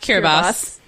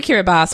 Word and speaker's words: Kiribati: yes but the name cure Abbas was adopted at Independence because it's the local pronunciation of Gilberts and they were sort